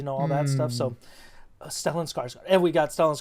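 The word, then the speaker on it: Stellan: Thank you Stellin. I want to say Skellen but I think I'm I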